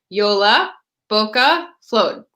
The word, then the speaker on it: Jolabokaflod: the Icelandic tradition of JOLABOKAFLOD. Yes. For anyone who needs to know how that's pronounced, JOLABOKAFLOD. And that's how we, American English speakers are going to pronounce it.